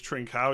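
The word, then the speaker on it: Trincão: I think it's Trincao is how you pronounce it, from Barcelona.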